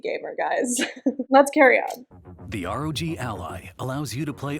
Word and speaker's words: ROG: gaming handheld from Rog hey it's Rog it's not Rogue frog well I guess